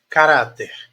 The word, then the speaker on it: caráter: oxítona paroxítona ou proparoxítona olha qual é a sílaba mais forte é a última não é se fosse a última ela oxítona é a anti penúltima não é se fosse anti penúltima ela seria proparoxítona como não é é a penúltima é a do meio do meio que eu falo de três sílabas ela é uma paroxitona olha caráter caráter caráter